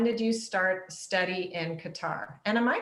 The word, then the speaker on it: Qatar: you won't pronounce it like an arab we'll pronounce it and that's exactly how you say it so i say qatar people say cutter whatever nobody no arab person has ever questioned